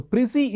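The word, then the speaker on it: précis: PC is misspelling juice pronunciation p r e c i s okay so prissy is a you know not an English word okay French term condensing the given texture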